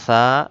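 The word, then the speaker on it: ث: আলিফ বা তা সা তা বাংলা ত এর মত ছা এটা বাংলা কোন অক্ষরের সাথে মিলে না। তাই এটা পড়ার সময় আমাদের কি করতে হবে? জিহবার আগা সামনের উপরে দুই দাঁতের আগার সাথে লাগিয়ে উচ্চারণ করতে হবে।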